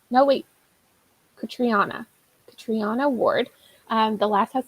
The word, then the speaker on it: Catriona: Okay, so oh my god, I just learned how to pronounce this author's name. Catriona. No, wait, Catriona.